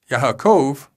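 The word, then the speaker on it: יעקב: Yaakov is Ya-a-kov. Notice here that the yod is at the beginning of the syllable and is a consonant. And the wa is in the middle of the syllable and therefore a vowel.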